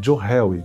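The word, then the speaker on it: Johari: interessante que é a janela de John Harry se escreve joari com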